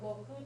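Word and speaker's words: 国: Note that this is pronounced either koku or goku depending, so like chugoku, but kankoku and shikoku is one of the main islands of Japan.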